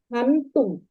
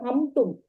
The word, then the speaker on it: हन्तुं: Hantum. You recited hamtum. There is anuswara. Because that bindu becomes in hantum.